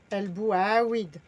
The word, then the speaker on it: el bouaouid: L, bou, a, weed. Weed. El bouaouid. Très bien. Si vous entendez les Marocains le dire, ça serait plus mélangé, ça serait le bouaouid.